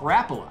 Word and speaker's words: Rapala: in 1936 all Blaine did was rip off Rapala yes that is how it's pronounced next myth tenkara is a simple easy